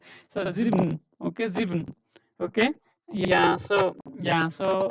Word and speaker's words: sieben: So when you hear Germans pronouncing, they will not say sieben. Okay, so you will hear only half of it. So sieben, okay, sieben, okay.